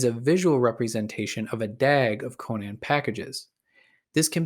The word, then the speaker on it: DAG: The acronym DAG, pronounced Dag stands for Directed as in,